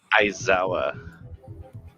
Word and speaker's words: Aizawa: Is Izawa? Is how you pronounce his name? Izawa? Aizawa.